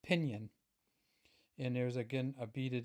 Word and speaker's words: Pingin: says pinion and and I've talked to a number of people about how to pronounce this and even people in Ireland say it differently but I think I'm just going to settle with pinion and there's again a